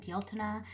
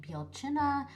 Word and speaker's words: Bealtaine: Um, so as you can see, uh, I pronounce it Baltina. Uh, it can also be more like Bjuna.